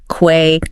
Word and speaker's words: quay: And the one that sounds like key. Quay. Key.